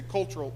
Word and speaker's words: cultural: You say rural in one syllable, you say cultural in two syllables.